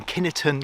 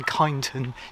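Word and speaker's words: Kineton: Now there's a difference on the pronunciation, Kinnerton, Kyneton, Kinton, however you want to pronounce it.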